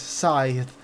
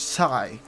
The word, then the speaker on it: scythe: Scythe. How do you pronounce that shit? Scythe. You know, you write it with like seven letters, and when you say it, it's like two letters. Sigh.